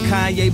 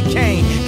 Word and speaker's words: Kanye: Now all I need is y'all to pronounce my name. It's Kanye, but some of my plastic still say Kanye.